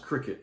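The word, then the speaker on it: Cricut: but it's like spell cry cut but it's pronounced Cricket they have a big marketing campaign so you'll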